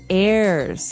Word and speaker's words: heirs: Pod, and to his heirs. This is our next word. What is an heir? Now, if you notice, the H is silent there. So his heirs.